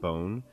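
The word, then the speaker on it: Bohn: And then the guy was doing the tweet, his last name's Bon, B-O-H-N, but you could pronounce it Bone.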